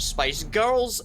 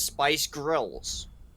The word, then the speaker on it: SPICE GRILS: hand corner is incorrect it is not spice girls it is spice grills just to clarify that right there in case anyone comes at me and says hey you're egypt you're saying it wrong no it's actually spiced grilled let's clarify that it's not spice girls spice grills um grace carry on